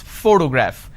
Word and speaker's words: photograph: this particular word photograph the correct pronunciation is photograph which means i am stressing on this particular syllable which is the first syllable please give me the